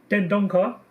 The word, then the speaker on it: Dendoncker: I don't know how to say his name, Dendoncker.